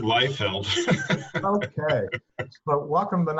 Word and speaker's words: Leifeld: is it Leifeld? I didn't ask you how to pronounce your name. Yeah, I pronounce it Leifeld.